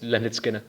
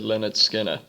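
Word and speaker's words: Lynyrd Skynyrd: but yeah the D the D is silent it's Leonard Skinner yeah ma'am that's what I said you said skinnard I said Leonard Skinner well maybe I'm going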